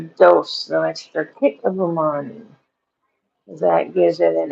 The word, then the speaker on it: umami: I tried a tonal extra MSG and stuff like that, which MSG is umami. Umami. Umami. Am I saying it right? Umami? Umami. Yeah, what that means is deliciousness.